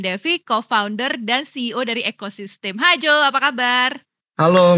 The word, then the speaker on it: Ecoxyztem: Nama kita sebenarnya pronounce-nya Ecosystem.